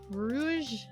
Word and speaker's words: Rouge: practice on each other her name is pronounced rou is it rou Rouge like French okay I'm sorry it's